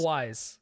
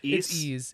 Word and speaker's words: Ys: Wise. I love Wise. Wise. Wise. Wise. Talise, the Talise of series, excellent series. Isn't the actual pronounce Ease? It's ease. Yeah.